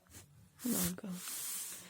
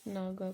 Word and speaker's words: नगा: बन जाती है नागा नागा ठीक है नागा को नगा भी बोल देते हैं ठीक है नगा का